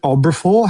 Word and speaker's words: Obrafour: Do you think there's anything else worth saying about, is it Obrafour? How do you say that? Obrafour? Yes, Obrafour. Yeah, friends with salad, Obrafour. That's exactly, you are getting it right.